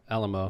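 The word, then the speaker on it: Alaimo: got to meet the alamo family is how they pronounce it okay it's spelled like a a-l-a-i-m-o yeah but they pronounced it alamo okay and ariana shaved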